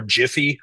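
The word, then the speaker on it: GIPHY: on another platform too called GY or Jify depending on uh how you choose to pronounce it.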